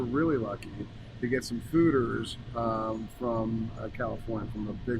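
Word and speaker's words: foeders: then we were really lucky to get some fooders from California, from a big winery in California. Okay. And the fooders hold 100 barrels of something beautiful. Oh, so that's those big barrels are called what? Fooders.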